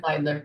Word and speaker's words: Zeidler: our guest and I always say her name wrong. Is it Zidler with an I Zidler? Zidler. Okay. Zidler.